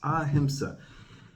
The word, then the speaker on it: ahimsa: Just warming up to this one topic, 3 syllables, ahimsa.